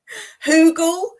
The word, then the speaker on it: Hugel: Hugel rhymes with frugal. Now you won't forget it.